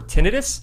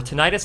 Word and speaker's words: tinnitus: If you have an asymmetrical hearing loss or tinitis or tonitis, however you guys like to pronounce it, it's fine with me.